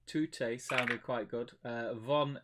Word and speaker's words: von: sounded quite good uh von is pronounced fun and the whole thing